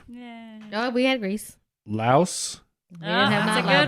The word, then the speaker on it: Laos: So How is Laos not 2 syllables? Laos are, well, and some things said that some people pronounce it Lao, which is, I guess, that's still true.